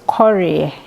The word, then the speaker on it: Koree: laugh about it but my surname is corey and it's uh it's an akan name which means ego so it's a is